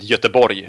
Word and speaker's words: Göteborg: No, in Sweden we pronounce it Göteborg.